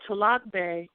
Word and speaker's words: Tolagbe: and gulligici wars and my name is dr or l will you spell that queen uh trs in 2018 spell your name okay so to log bay is capital t o l a g b